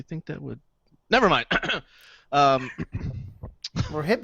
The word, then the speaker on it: Rohypnol: You know, like GHB, and I can never pronounce this. It's rohypnol.